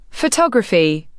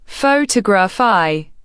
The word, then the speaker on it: photography: Focus on stress patterns in words like photograph, potograph versus photography, photography. Syllables change emphasis.